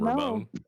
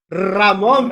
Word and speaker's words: Ramon: why is your name Ramon Ramon please make sure you uh enunciate when you do that vob please no some respect put some respect on my name you know how to roll your RS because I know all